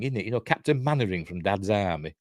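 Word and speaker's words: Mainwaring: it you know captain mannering from Dad's Army it's pronoun it's spelled m wearing is it but it's pronounced mannering in English weird anyway never mind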